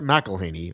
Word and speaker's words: McElhaney: It is in fact McElhaney.